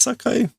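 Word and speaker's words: 境: So again, there are different ways to pronounce kanji, and this is now the kunyomi version, which is kuni zakai. Sakai. Is it sakai? Yeah, sakai. Sakai being the other way to pronounce kyo, or boundary.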